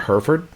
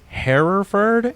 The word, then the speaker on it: Hereford: He says pronounced Hereford here in my neck of the woods, which I think the pronunciation we technically are supposed to say in America is Hereford, but I always grew up saying Yeah, Hereford. we call it Hereford.